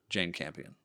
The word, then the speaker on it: Jane Campion: And it would be down to Paul Thomas Anderson and Jane Campion.